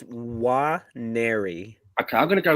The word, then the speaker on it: Nwaneri: Nwari, sorry. It's Nwaneri.